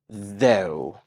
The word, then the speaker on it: though: worries my dear let's start with the word though though and it trimes with go though go though go I got it